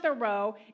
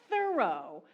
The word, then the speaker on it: Thoreau: It's not Thoreau, it's thorough, as in thoroughly done.